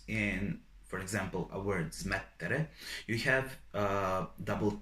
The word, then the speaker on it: smettere: for example, a word smettere, you have double T. Those are called doppie, doppie. And when you are pronouncing a word, you need to point out a little bit this letter that is doubled.